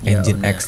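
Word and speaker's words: nginx: adalah engine X ya Ini bacanya engine X teman-teman website-nya ada di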